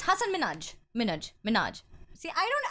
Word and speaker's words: Hasan Minhaj: like like you know it's not Hasaan me not like Hassan my it's Hasan Minhaj minute Minaj see I